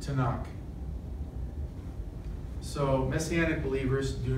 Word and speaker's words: Tanakh: it's the three Torah prophets writings and it's pronounced to knock so Messianic believers do not say Old Testament they say what's in the Tanakh the second is the name of God god